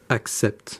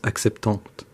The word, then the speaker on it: acceptent: And for they and plural nouns, ENT, which is pronounced, which isn't pronounced. This is never pronounced. So, les entreprises acceptent, not les entreprises acceptantes, or acceptant.